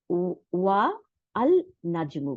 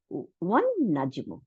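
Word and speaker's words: والنجم: আমরা উচ্চারণের সময় ওয়া আল নাজমু বলতে পারতাম, তাই না? কিন্তু তা বলি নেই, কেন? কারণ সোলার ওয়ার্ড, শামসি ওয়ার্ড, এই ওয়ান নাজমু।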